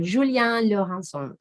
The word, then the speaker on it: Julien Laurencon: let's meet our speaker julian lohan julian is french so that's how we should pronounce his name and let me tell